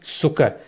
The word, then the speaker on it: Zucker: वो इंग्लिश में शुगर और जर्मन में वो होगी सुकर, तो उसमें आप देख सकते हैं कि उसके स्पेलिंग जो है वो ZUCKER है। अब जेड से आप लोगों के जहन में आ सकता है कि यार ये जुकर क्यों नहीं है, वो इसलिए क्योंकि